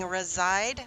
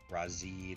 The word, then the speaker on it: Razide: thing being a creature, I've heard it as a Razide, a Razide, a Razide. For me, it's always been a Razide.